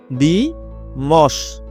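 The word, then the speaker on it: dimanche: একটু রোজটা জেনে রাখি সাধারণত এন বা এম এর পরে নাক দিয়ে উচ্চারণ হয়। যেমন লাদি লাদি লাদি দ্বিমশ দি মশ এক্ষেত্রে ম এর উপর চন্দ্রবিন্দু বাংলাকে কাছাকাছে রাখার চেষ্টা করছি ল এর উপর চন্দ্রবিন্দু লাদি ম এর উপর চন্দ্রবিন্দু দি মস দি মশ এটা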